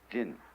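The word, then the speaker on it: 仁: How do you pronounce that in Japanese? Jin.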